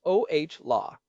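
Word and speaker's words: Olah: And then there is Chris Ola pronounced oh law.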